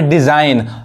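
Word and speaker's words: design: अब यहां देखिए, यहां पे डिजाइन, यहां देखिए रिजाइन मतलब क्या होता है, इस्तीफा, यानी ये जी नहीं पढ़ाएगा।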